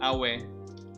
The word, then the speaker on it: Aue: It's in German it's called Aue. That sounds like the sound you make whenever you're injured.